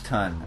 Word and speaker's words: tun: So basically, this conveyor belt is going to bring the barley up to the top of the mash tun. I hope I'm pronouncing that right. It's pronounced T-U-N.